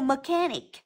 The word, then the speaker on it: mechanic: mechanic từ thứ nhất Chúng ta có từ mechanic trọc âm rơi vào âm thứ hai bởi